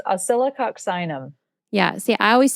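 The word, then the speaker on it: Oscillococcinum: It's pronounced oyoxinum. Yeah. See, I always say ocylium and Yeah.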